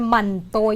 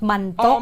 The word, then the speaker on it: Manto: Ang apelyado ni Sir Jeneline, Sir Manto, yan o? Not Mantok, not Hamantok.